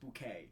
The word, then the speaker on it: Bucket: was very Whitey toy she insisted that her name be pronounced bouquet mhm of course that's